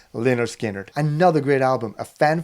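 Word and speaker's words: Lynyrd Skynyrd: about and of course this is lonard skanner pronounced lonard skinnard another great album a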